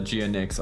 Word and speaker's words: GNX: Yeah, well, Jinx, they pronounce it Jinx. I always call it the GNX.